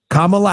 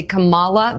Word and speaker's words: Kamala: the hate campaign against kamla Harris has done you'll notice they purposefully pronounce her name wrong they say Kamala they do it all the time it is on purpose but the talk is